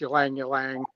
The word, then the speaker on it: Ylang Ylang: It's Ylang Ylang. I think I'm pronouncing that right.